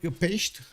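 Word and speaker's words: Pécs: Pex is like Pesht. Oh, Pesht. Okay, Pesht.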